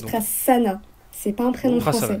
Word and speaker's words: Prasanna: Alors, il y a un seul S, 2 N, mais ça se prononce Prasanna.